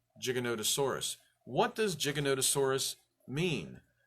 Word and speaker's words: Giganotosaurus: gave it the name Giganotosaurus what does gigolotesaurus mean we've always mispronounced it as gigantasaurus so we just assumed